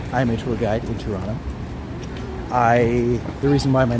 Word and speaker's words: Toronto: I'm a tour guide in TOURonno. The reason why my name is TOURonno is because in Canada, in Toronto specifically, we do not pronounce the second T.